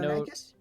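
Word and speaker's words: Deinonychus: How do you say that? Dinochius. Dino. Dino-nychus? Yeah, that's it. With a frightened-looking jockey.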